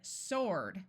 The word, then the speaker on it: sword: we have the word sword where the W is silent here are some of